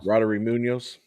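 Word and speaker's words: Roddery Muñoz: Roddery Munoz.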